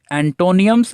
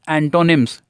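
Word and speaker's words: antonyms: इसे कुछ बच्चे एंटोनियम्स एंड सिनोनियम्स बोलते हैं ना, गलत प्रोनाउंसिएशन है। सिनोनिम्स एंड एंटोनिम्स, एंटोनिम्स नॉट एंटोनियम्स, ठीक है, ध्यान रखेंगे।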